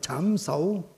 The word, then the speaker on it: trảm sẩu: Tiếng Quảng Đông đó. Trảm thủ. Đọc là trảm sẩu.